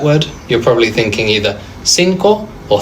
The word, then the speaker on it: cinco: Cinco or cinco. And now you know why. It's because the I and the E change the C to a soft C.